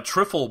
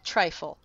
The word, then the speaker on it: trifle: who wants a a triffle bowl when you can have a dozen cupcakes Ted that's pronounced trifle trifle I mean trifle trifle